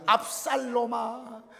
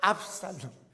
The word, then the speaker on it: 압살롬: 내 아들 압살롬아, 압살롬. 여러분, 롬이 아니고 롬입니다. 압살롬.